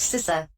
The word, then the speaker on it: CISA: sisa seriously it's not that hard it is pronounced sisa I don't know who made that decision and